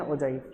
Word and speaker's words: ogive: कुछ लोग ओगिव भी बोलते हैं इसको, बट इसका करेक्ट प्रोनाउंसिएशन मेरे ख्याल से ओजाइव होता है, ठीक है ना। जितना गूगल पे देखो तो ओजाइव बोलते हैं, ओगिव नहीं बोलते हैं।